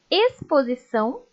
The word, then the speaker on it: exposição: som de s simples o x aparece antes da consoante Leiam comigo expedição exploração exposição e explorar com som de ss